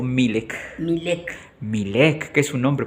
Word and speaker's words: Milec: ¿Es correcto la pronunciación? ¿Milek o Milek? Milek.